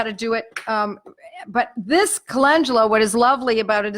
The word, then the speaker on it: calendula: Latin name is calendula, C-A-L-E-N-D-U-L-A, calendula. People mispronounce it. They say calendula, but you have to think like the way in Italian it pronounces. Calendula.